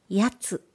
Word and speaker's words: 奴: 壺井栄作やつ奴とは私の名前である奴と読む今では気